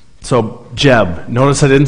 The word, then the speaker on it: Geb: people all right so jeb notice i didn't say gab or gabriel or good or whatever it's good or i don't know jeb like a j-e-b yeah it even says